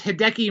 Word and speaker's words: Hideki: No, it is Hideki Matsuyama. Ah, yes.